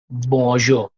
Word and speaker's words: bonjour: Bonjour. Bonjour. It's not jour, Bonjour. okay? Jour. So say it Bonjour.